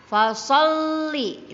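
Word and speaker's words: فَصَلِّ: Jadi fasol kan kalau tidak ada tasdidnya maka kita akan membacanya faso. tetapi karena ada tasdid di lam, di atas lamnya, maka so-nya itu mengikuti huruf lamnya. Jadi fasolli.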